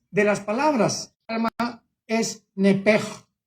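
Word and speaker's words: נפש: En el hebreo se pronuncia la sh como j. Nepej es la palabra alma en hebreo. Nepej.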